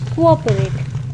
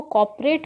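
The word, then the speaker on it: cooperate: कुछ लोग कोऑपरेट को कॉपरेट बोलते हैं, जिस वजह से वो COOP की जगह COP लिख देते हैं और उनकी स्पेलिंग रॉन्ग हो जाती है। सो इट्स नॉट कॉपरेट, इट्स कोऑपरेट। I hope अब आप लोग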